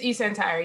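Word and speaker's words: eSentire: how you pronounce it? It's eCentire, yep.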